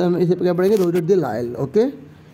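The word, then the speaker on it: Rouget de Lisle: तो एक पोइट थे जिनका नाम था रोजेट दे लायल, ठीक है, ये रोजेट दे लायल, ठीक है, इसमें एस साइलेंट होता है, तो इसका आंसर हम इसे पर क्या पढ़ेंगे, रोजेट दे लायल, ओके।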